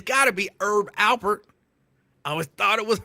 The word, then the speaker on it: Herb Alpert: His name, it's got to be Herb Alpert. I always thought it was Herb, but I was just told, no, the H is silent. It's Herb Alpert.